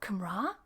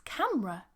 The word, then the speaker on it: camera: be like what camera it's not camara it's camera or camera so your pronunciation is